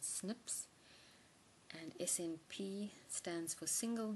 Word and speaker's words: SNPs: known as is snps we pronounce that Snips and SNP stands for